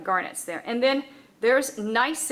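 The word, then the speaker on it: gneiss: there and then there's nice again with the silent g also referred to as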